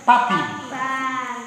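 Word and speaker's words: puppy: Papi tulisnya ke mana? Pupi. Bacanya jangan pupi, bacanya pa. Papi. Ya, bahasa Inggris tulis lain, baca lain.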